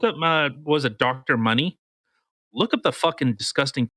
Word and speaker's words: Money: So John William Mooney, if whoever can't read what's on my screen, or no, Money. Yeah, it's spelt money. I guess I pronounced it retarded.